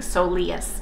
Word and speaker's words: soleus: or masseuses have both said the same thing so leas is how you pronounce it so I appreciate the information thank